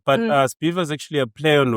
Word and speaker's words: Sbhiva: Sbhiva is a very interesting name as well. What does it mean? Sounds like a chant, right? It does. Viva, Viva. It rhymes with Viva, but Sbhiva is actually a play